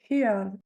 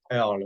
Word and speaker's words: Earle: De Sylvia Heard, si je le Sylvia, prononce comme il faut. Sylvia Earle, oui, oui, très Heard, très connue.